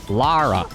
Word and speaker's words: Lara: Do you guys say Laura Croft or Lara Croft? Because we talked about that on stream once and somebody left a comment and they were like upset that we were saying her name wrong, and I'm like, Laura Croft? I was saying Laura Croft. Lara.